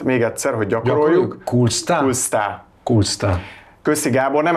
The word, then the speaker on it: Kolstad: amit így kell írni, annak a helyes kiejtése Kulsta. Csak hogy ti is tudjátok legközelebb. Az O betű, ez esetben U betűnek ejtjük, a végén a D betű pedig nem kell ejteni. Tehát még egyszer, hogy gyakoroljuk.